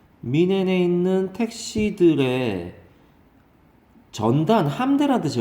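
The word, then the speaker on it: München: Part of a fleet of taxicabs in Munich 이렇게 되는데, 또는 뮤닉 그렇게 발음하는데, 얘는 독일식 발음은 민헨입니다. 민헨. 민헨에 있는 택시들의 전단, 함대라는 뜻이 원래 바다에 있는 막 2, 30척 되는 배들의 함대를 말해요.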